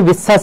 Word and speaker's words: বিশ্বাস: কখন তালবস ব্যবহার করব উচ্চারণের ক্ষেত্রে যদি উচ্চারণটা ছয় এর মত হয় তাহলে দন্তস বল থাকবে অন্যথায় তালবস হবে তাহলে এখানে আমরা কখনো বলি না যে তোকে আমি বিশ্বাস করব অনেকে বলে থাকে সেটা উচ্চারণের সমস্যা হতে পারে ধ্বনি পরিবর্তনের সেক্ষেত্রে দেখো কিন্তু আমরা সাধারণত বলি বিশ্বাস এখানে ছয় এর মতো আসছে না সেক্ষেত্রে তালবর্ষই হবে এখানে তাহলে যার সঙ্গে ব